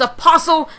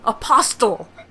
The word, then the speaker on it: apostle: God damn it, I pronounced the T again. It's apostle, not apostle.